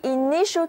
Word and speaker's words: initial: 而短语听天由命就是 bow to the inevitable。向不可避免的规律鞠躬，表示屈服，就是听天由命。接下来我们在 IT 这个词根的前面加上前缀 in，在这里的 in 的意思啊是表示进入，那后面呢加上 IAL 这个形容词后缀，摆在我面前的这个新单词就是 initial，I-N-I-T-I-A-L，重音在第二个音节，但是词中的前面两个字母 I 都发作短而急促的 I，而字母 T 的读音是 sh，音标呢像一个拉长了的 S，跟我一起念一下 initial，表示走进、入门。所以这个单词的意思就是最初的、词首的，是一个形容词。比方说 The initial talks were the base